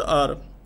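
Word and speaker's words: hour: Here the word or, in the word or, H remains silent.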